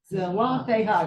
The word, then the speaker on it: Zelophehad: Zelophehad. That's four syllables.